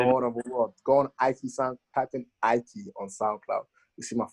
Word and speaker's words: Aiki: the meaning behind it it's ikey i key that's your i then a key for a door it's not a key it's not a key